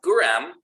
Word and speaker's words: Guram: Now, Guram is the Georgian name and pronunciation. Gurgan is more of the international version. That's the version that would have been used for any sort of diplomacy or international text.